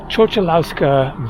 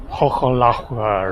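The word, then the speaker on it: Chochołowska: And so the Chocholauska Valley, and so the real pronunciation is more like Chocholahua or something like that.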